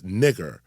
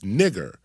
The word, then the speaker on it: niger: N-I-G-E-R can only be pronounced in Latin as nigger because the Latin G was always pronounced hard, as in go. It was never pronounced soft, as in gentle.